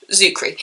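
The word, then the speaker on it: Czuchry: I recently found out how to pronounce his name. Just ignore the C and just go from the Z. Zuckery.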